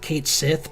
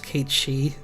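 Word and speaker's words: Cait Sith: played Final Fantasy 7, they they said that like I did, which is Kate Sith, but apparently it's Kate Shei.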